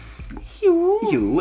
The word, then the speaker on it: Hjo: HJO, and they say I love HJO, as in fun word, right?